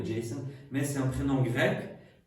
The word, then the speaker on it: Jason: Mais c'est en français, on toujours écrit Jason. Probablement on ne le prononce plus comme ça parce que ça pense à jaser. Mais donc les gens préfèrent dire comme en anglais Jason.